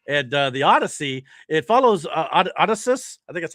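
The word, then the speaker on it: Odysseus: And the Odyssey, it follows Odysus, I think that's how you say his name, the legendary Greek king of Odysius.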